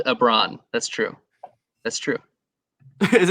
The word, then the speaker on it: Ebron: as opposed to like so it just left off the l at the beginning it's lebron james but eric ebron eric abron that's how you pronounce it okay sorry yeah um